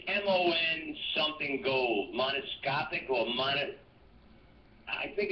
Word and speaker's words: monatomic: Monoscopic or I think it's some sort of gold that they needed it for their atmosphere. Monatomic.